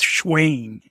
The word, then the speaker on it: Shayne: sh I believe it like Wayne right yeah like Wayne but it's schain whoever whoever it was